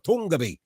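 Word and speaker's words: Toongabbie: Tama bang bigkas ko riyan, pare ko? Tunggabi or Tunggabi?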